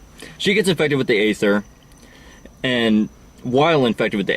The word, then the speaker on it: aether: and she gets infected with the aether which they kept pronouncing ether even though in the subtitles you notice that there's an a then an e science science can't explain